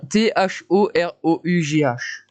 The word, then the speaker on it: thorough: Bon, T-H-O-R-O-U-G-H. Voilà, j'imagine que comme on ne prononce pas le G-H, ce serait follow.